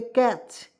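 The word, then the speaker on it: catch: आप देखिए यहाँ पे बी ए टी सी एच, क्या हो जाएगा दोस्तों, बैच, ठीक है।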